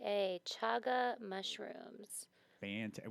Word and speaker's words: chaga: h a g a chaga mushrooms Fant and we verified the pronunciation it's definitely chaga not Shaga shaba Bo oh sh I